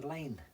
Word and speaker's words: Laing: It's Hunter Laing they pronounce it, don't they? But it's spelled Lang, L-A-I-N-G.